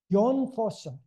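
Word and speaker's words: Jon Fosse: year good and I have time too uh yon for is how it's pronounced and is a relatively young man he's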